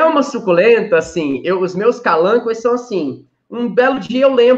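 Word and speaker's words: Kalanchoe: Então, tem algumas suculentas, Stephanie, como os calancoe, ou você pode falar calanchoe, calanchoe. Em latim, a pronúncia é calancoe, tá?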